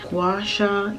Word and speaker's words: gua sha: tuesday it's tuesday morning day two of this washa yes that's how you say it facial challenge